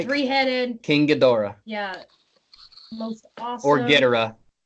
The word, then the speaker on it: Ghidorah: King Ghidorah. Yeah. Most awesome. Or Ghidorah. Drawing of it in that anime. Tyson, is it Ghidorah or Ghidorah? Pronouncing it the Japanese ways, it is Ghidorah.